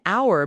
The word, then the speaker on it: hour: We say an hour because H is silent.